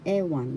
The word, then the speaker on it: ewan: First syllable e, second syllable one. The accent is in the first syllable. Ewan.